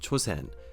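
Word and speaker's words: Chōsen: Ito Hirobumi, who had forced the hand of the emperor and his State Council, was made the first resident general of Chosen, the Japanese pronunciation of Chosan.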